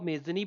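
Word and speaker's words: Mazzini: देखिए, इनको मेजनी भी बोलते हैं क्योंकि स्पेलिंग जो है वो इनकी कुछ ऐसी होती है, स्पेलिंग Mazzni।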